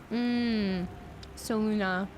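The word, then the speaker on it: Selûne: But it's Salune. Saluna is how you pronounce the proper name of the goddess.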